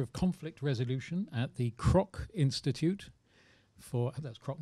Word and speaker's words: Kroc: Now, Larissa is the Assistant Professor of Conflict Resolution at the Kroc Institute for, that's Kroc, not Croak, is it? Yeah, it's Kroc.